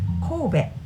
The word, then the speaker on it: Kobe: Was inspired by Japanese word because we pronounce it Kobe, not Kobe.